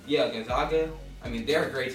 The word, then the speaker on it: Gonzaga: but the other team gag how do you pronounce them Gonzaga yeah Gonzaga I mean they're a great team too they've